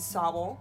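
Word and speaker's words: Sobble: grouchy score bunny and Sowell I believe is how it's pronounced and score bunny is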